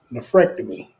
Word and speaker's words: nephrectomy: You need some time to give us an update on how your nephrectomy went. See, that's what it called. I I I don't be pronouncing it correct. Nefrectomy.